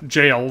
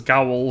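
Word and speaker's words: gaol: video that told me how to pronounce the word uh jail there i i just assumed it was gowl or something like that but yeah you just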